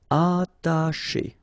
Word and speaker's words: attacher: Attacher. Okay, you don't pronounce the double T, okay, ata, but then remember, C and H together, they will produce this sh sound. Attacher, attacher.